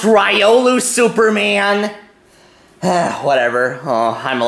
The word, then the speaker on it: Riolu: to be beaten tomorrow it's pronounced ryolu Superman whatever oh I'm